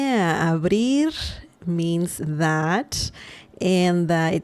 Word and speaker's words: abrir: Abrir, brie. Just like the cheese brie, but a little different pronunciation.